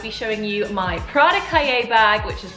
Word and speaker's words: Cahier: But this is how you say it. Cahier or Cahier. Cahier.